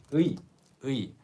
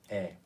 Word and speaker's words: 의: But when it's after a different noun, it can become 에. So 의 has so many pronunciations. Sometimes it's e, sometimes it's e, sometimes it's ui. It really depends on the word.